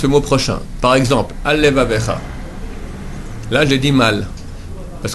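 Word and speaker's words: עַל לְבָבֶךָ: Par exemple, Al-Levavecha. Là, j'ai dit mal, parce que j'ai dit un seul L. Al-Levavecha. Or, c'est Al, Levavecha.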